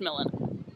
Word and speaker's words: Milan: the Duke of millen looks like Milan pronounced millen don't ask me why